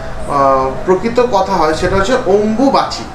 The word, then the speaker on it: অম্বুবাচী: বলে যেহেতু গ্রামের লোকেরা তো ঠিকমত অনেক কিছু উচ্চারণ করতে পারে না ওই জন্য এই ভাষাটাকে অম্রবাতি কেউ শরীর খারাপ কেউ নানা রকম ভাষায় বলে একচুয়ালি যদি স্পষ্ট উচ্চারণ অথবা প্রকৃত কথা হয় সেটা হচ্ছে অম্বুবাচি অম্বুবাচি এর নামটা কিন্তু অম্বুবাচি অম্বু একটা শব্দ অম্বিকা